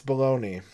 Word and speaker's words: bologna: Is it bologna or bologna? It's bologna.